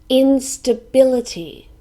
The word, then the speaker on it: instability: main centers of population instability this is a noun it has five syllables in staff bill T and we stress the third syllable instability instability it means